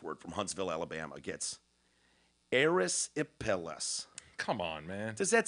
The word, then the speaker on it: erysipelas: Erysipelas. Okay, I got it. Erysypallis. Erysipelas. You're out. You don't share in the prize. It's actually Erysipelas.